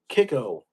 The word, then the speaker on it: Kicco: Kiko. So it's spelled Kicco, but Kiko stands for Kissimmee Island